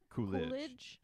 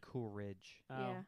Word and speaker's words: Coolidge: too I like it what is it Coolidge we heard Coolridge I put an R in there Coolridge all right Phil